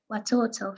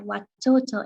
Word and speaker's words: watoto: able to hear that i've pronounced the t's with as retro flex sounds which is something that happens with the pronunciation of foreign words in hindi the ts will become the dental sounds will become manifested as retroflex sounds so where you